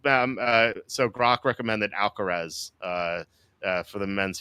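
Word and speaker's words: Alcaraz: Uh, um, that's It looks like Alcatres, but it's like Alcarez or something.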